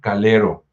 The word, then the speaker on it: Calero: cargo del fray Juan Calero. Es calero con a, eh, no lo vayan a pronunciar con U porque luego se desoye feo, así como partido de fútbol.